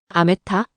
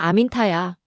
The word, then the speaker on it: 아민타: 아메타 아니야. 아민타야. 아미나타 아니라고.